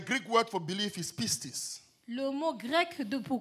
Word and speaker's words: pistis: The Greek word for belief is pistis. Le mot grec de pour croyance est Pistis, P-I-S-T-I-S. Pieces. P-I-S. Okay, just spell it because it's like red lorry, yellow lorry.